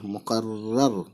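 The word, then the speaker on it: مقرر: और ये रे मुक़र, फिर रे पे ज़बर है क्योंकि रे को 2 बार पढ़ना इस वाले को, रे ज़बर रा और फिर रे मुक़र्रर, हे पेश, फिर वहाँ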